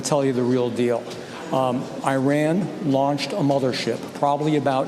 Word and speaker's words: Iran: First of all, anybody that continues to pronounce it Iran, especially if they are in the government where it's not pronounced Iran, it's pronounced Iran, and anyone in the